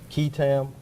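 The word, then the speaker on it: qui tam: One of the things that you were teaching us was, and you helped me on the pronunciation, Ketam.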